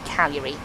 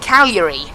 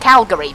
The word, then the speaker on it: Cagliari: I said Cagliari. I think that's how you pronounce it. It's like a silent, it's like a weird G. Whatever it is, it's not Calgary, but never mind.